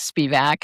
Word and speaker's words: Spivack: Anyway, um thanks very much for having me, for protecting me, for you know, pronouncing my name correctly. It is Spivack.